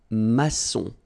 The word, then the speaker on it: maçon: And it just means that you will pronounce this C as S, okay? So that's the reason why. It's un maçon.